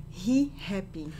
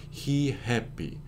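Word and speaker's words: Ri Happy: the name of this store how would you pronounce it as a Brazilian he happy he happy and so notice you take the word happy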